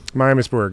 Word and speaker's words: Miamisburg: of the shows it's what how do you pronounce Miamisburg Miamisburg yeah Ohio mm Ohio boom nice oh man